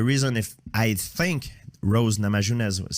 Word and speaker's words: Namajunas: Namajunas, yeah.